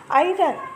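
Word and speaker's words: iron: ಐರನ್. The silent letter ಇನ್ this word is ಐರನ್. ಐರನ್. ಆರ್ ಈಸ್ ಎ silent letter. R is the silent letter here.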